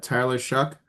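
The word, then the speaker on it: Tyler Shough: Got Tyler Shuck, that's how you pronounce it, in New Orleans.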